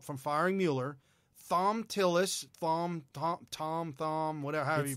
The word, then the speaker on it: Thom: Thom Tillis, Thom, whatever, however you pronounce it.